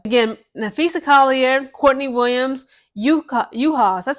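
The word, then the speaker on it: Juhász: I believe that's how you pronounce it, but it starts with a J.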